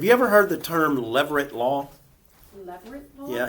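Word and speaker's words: levirate: Have you ever heard the term leverit law? Leverit law. Yeah, it's spelled L E V I R A T E and it's described in Deuteronomy 25.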